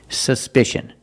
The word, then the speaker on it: suspicion: look at this word suspicion in this word the c is pronounced with the sh sound like in fish or wish there's no voice it's